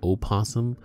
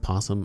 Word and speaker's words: opossum: from what I've heard if it's a possum from America the O is silent so it's not o possum it's just posum I don't know anyhow